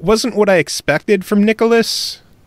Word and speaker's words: Nicalis: By the way, it is Nicalis, not Nicalis or Nicalis. It is Nicalis.